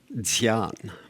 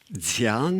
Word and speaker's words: Dzyan: All right, the next word is Dzyan. Spell that.